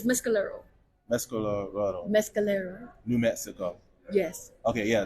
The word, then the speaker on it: Mescalero: do you say this city it's mcolo Mescal Mescalero New Mexico yes okay yeah this is my